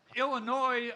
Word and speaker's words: Illinois: great state of Illinois, where the S is silent.